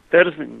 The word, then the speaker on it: Terzin: Ili Terzin, ja ne znam kako treba akcentovati. Kako, Terzin? Terzin, da.